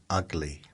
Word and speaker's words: Ugley: In Essex, there's a place called Ugly, but it's spelled Augley.